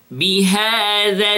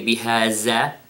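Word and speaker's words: بهذا: Then, bihadha albalad. Notice the sound of the dhal. It is dhal. It is not za. I didn't say bihaza, okay? Bihadhal, bihadhal balad.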